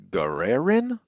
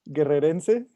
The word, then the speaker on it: Guerrerense: And in fact, like there's a whole bunch of Guerreran. Did I say, is that how you say it? Guerreran? Guerrerense. Guerrerense What are you spirits.